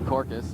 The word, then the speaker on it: Corkus: the nickname Corky that's nobody can pronounce my last name it's you know it's basically how it is it's corkus and people have a